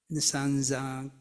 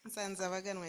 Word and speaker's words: Nsanzabaganwa: You missed one syllable. Nsanzabaganwa is my name.